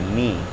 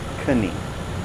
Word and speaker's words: knee: That's the knee, again, not knee.